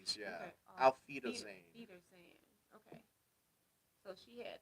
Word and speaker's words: Auf Wiedersehen: Off Wishershin, right? Auf Wiedersehen. Oh, it's a V. The W is pronounced W's like a are V. V's, yeah. Okay. Auf Wiedersehen.